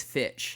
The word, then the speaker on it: Fitch: girls who wear uh i say finch as well it is fitch yeah which is like